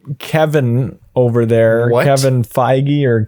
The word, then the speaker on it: Feige: Kevin Feige or Feige or Feige.